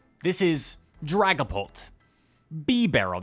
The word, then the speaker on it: Bibarel: This is Dragapult, Bibarel, that's the official pronunciation. Maybe I'll just say Bibarel, and Shadow Alolan Dugtrio.